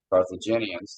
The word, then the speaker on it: Carthaginians: Of this example of the Carthaginian, for lack of better terms, I can't hardly pronounce it. Carthaginians. Carthaginians, thank you, sir.